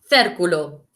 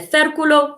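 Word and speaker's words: círculo: and repetite repeat sounds a bit like circle el cercolo el circulo if you look my circular is rojo it's el circulo rojo the red circle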